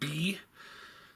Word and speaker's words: Bii: a look at the Toy World um Gold Bee. Uh I believe that's what it's called. Um and B is spelled B I I.